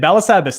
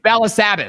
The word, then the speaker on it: Balasabas: Balasabas. There it is. I love it. So it's Balasabas. So it's more of the ah sound at the end.